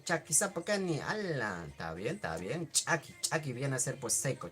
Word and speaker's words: chaki: Acuérdense, cuando hay un apóstrofo, se tiene que pronunciar como si nosotros estaríamos haciendo reventar o explotar algo, ¿no? Chaki, que es diferente así, chaki. Suave, simple, ¿no ve?